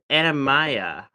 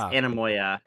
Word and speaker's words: Anamoya: Her name also be her name is Anamaya. No, it's Anamoya. It's Anamoya. Her name's Anamoya.